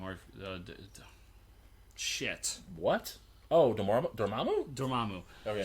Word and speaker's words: Dormammu: So when they pronounce him in the movies, and that's the actual way to pronounce it, but in my head, I'm going to sit back and be like, I know I'm wrong, but I'm stubborn, and it will always be the way I read it.